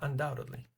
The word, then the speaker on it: undoubtedly: So I say undoubtedly. As you guys remember the uh B is silent.